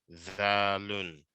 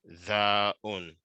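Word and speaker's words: ذال: zalun, Dalun. Valun. dalun, zalun, MashaAllah. Okay, let's begin from here. ro'un. Sorry. Za'un, No, zal, za, za'un. no. It ends with lun. L-U-N. Okay. Zalun.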